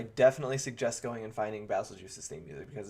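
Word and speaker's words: Bazelgeuse: And yes, I pronounce it basil juice because let me make sure. Basil juice, yeah, so it's BAZLGEUSE. It's basil juice, right? Like if I've heard like basil guys, it's what? No, it's just like Beetlejuice, but with basil.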